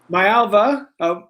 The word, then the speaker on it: Maiava: And thank you, Jayden Maiava.